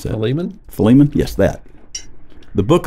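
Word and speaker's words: Philemon: book of Fon Fon fomon how do you pronounce that fiman fiman yes that the book of fiman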